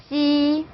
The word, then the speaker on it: j: 그래서 자, J는 무슨 발음 나요? 그렇죠? 지읒 발음 내시면 돼요.